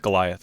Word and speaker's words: Goliath: Is that how you say it, how you pronounce it? Goliath? Goliath, yeah.